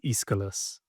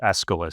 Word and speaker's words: Aeschylus: Yeah, so I think the correct pronunciation is Aeschylus. Okay. I thought it was Aeschylus, so I just wasn't sure.